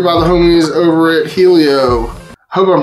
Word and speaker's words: Helio: the homies over it Helio hope I'm pronouncing that right it's h e l little i o the eyes is the only lowercase one Helio that's that's how it sounds in my head um but they're calling